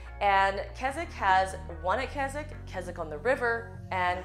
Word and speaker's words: Keswick: So Keswick is spelled K-E-S-W-I-C-K, but it said Keswick.